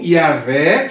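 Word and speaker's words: Yahweh: o judeus bom então a pronúncia original mais provável é Javé ou é o yaveh que vai para o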